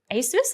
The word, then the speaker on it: ASUS: ASUS? I've recently learned how to pronounce that, Dean. Am I doing it right? Yeah, great. Okay, good to know.